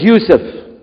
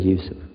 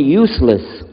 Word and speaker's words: Yusuf: we'll work on it shalom my name is yusuf can you say you said youssef you're very good i wish you teach my wife she keeps mispronouncing it she calls me useless now how many of you were in the